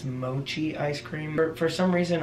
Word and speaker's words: mochi: For some reason, I interpreted the CH as a K sound. When we went to that sushi restaurant, Cameron said that I think that's how you pronounce it.